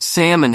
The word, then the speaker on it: salmon: more like comfortable and I was convinced salmon had an L that needed to be pronounced spoiler alert it doesn't Mr Parker's advice was